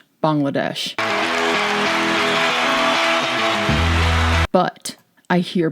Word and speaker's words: Bangladesh: Every Bangladesh is one of my favorite videos I've ever made.